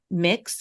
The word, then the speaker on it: Mx: are Miz The honorific Miz the honorific mix or M depending on how you say it MX and the